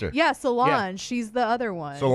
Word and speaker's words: Solange: Solange. She's the other one. Solange. Yeah, I think that's how you say it. Yeah. Solange with a J.